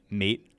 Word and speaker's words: MAIT: We're calling it Mate, but it's spelled MAIT.